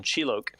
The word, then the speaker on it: Chilok: Chilok is probably how it's supposed to be pronounced. It's like loc as in localization, Chilok, right, as the company responsible for English translation.